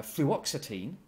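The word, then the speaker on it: fluoxetine: a strong base and made it soluble uh fluoxitine that's the correct the correct pronunciation well that lone pair of electrons there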